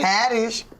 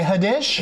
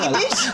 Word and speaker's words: Haddish: name that part right hadish how do people say your name wrong people say it wrong do they say hadish they be like like Kish like that's probably more